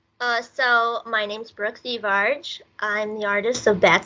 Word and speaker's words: Thivierge: to hear your additions The Verge di Verge Becca's was closer the so it's th um but it's French Canadian so cier is actually